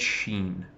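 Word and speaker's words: שׁ: character on the right if it's to the right then it's Sheen that's to the left then it's seen okay so maybe some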